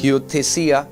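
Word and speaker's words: υἱοθεσία: The word adoption comes from this Greek word hiothesia.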